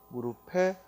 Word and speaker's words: 무릎: 비읍으로 오해하는 친구들이 많은데, 무릎은 본래 피읍 받침이고 대표음 무릎하고 비읍으로 나를 뿐이죠. 그러나 뒤에 모음으로 시작하는 형식 형태소가 오면은 연음해야 되니까 무릎이, 무릎을, 무릎에 하고 피읍으로 발음을 해야죠.